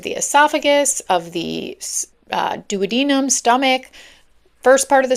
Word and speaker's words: duodenum: Oh my god, this is like such a thing in medicine because it's There's two ways to say it and it's either duodenum or duwadnum.